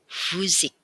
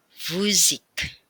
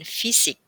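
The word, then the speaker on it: Physik: berada di tengah-tengah kata maka huruf y itu akan diucapkan seperti mengucapkan u Um laut u seperti pada kata fuzik sekali lagi di fusik Jadi bukan fisik ya melainkan fusik huruf selanjutnya adalah huruf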